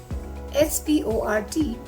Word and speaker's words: Sport: For example, SP in the beginning of any word needs to be pronounced as Sport. S-P-O-R-T is pronounced as sport in English, whereas in German you need to pronounce it as Sport.